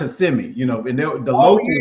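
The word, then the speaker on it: Kissimmee: But it's pronounced CMI, you know.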